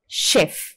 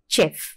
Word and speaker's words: chef: CH என்ற letters produce பண்ற sound ஷ. சோ வி சே ஷெஃப் அண்ட் நாட் செஃப்.